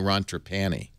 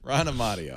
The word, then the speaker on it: Amadeo: Technica, Ron Amadeo writing, although I mispronounced it all along. I kept calling you Ron Trapani. Oh, so, Ron Amadeo. I got it now.